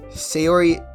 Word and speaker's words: Sayori: Yes, that's how you say her name. Sayori.